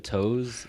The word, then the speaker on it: To: it's spell t o it's pronounced toe but then like i